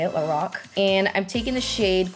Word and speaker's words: Lorac: palette number two that's how you say it l Rock and I'm taking the shade cool gray which